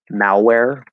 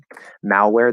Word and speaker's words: malware: not all the time if we say um malware malware that's al not all okay so there are